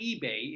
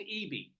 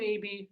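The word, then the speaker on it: Ebey: It's not eBay, it's E-B-E-Y. Dustin Abey, maybe.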